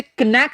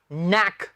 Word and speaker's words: knack: तो एक तो क्लियर है स्टूडेंट्स, हम इसे कनैक नहीं कहेंगे। क्या कहेंगे? नैक। K इज not pronounce here, नैक।